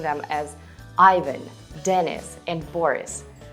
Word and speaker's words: Иван: In Russian, these names sound as Ivan, Denis, Valery.